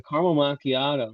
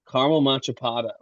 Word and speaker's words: macchiato: It was like a caramel macchiato. She kept going caramel machapato. She said caramel machapato. We would order her like, French vanilla with cream instead until she learned how to say caramel macchiato.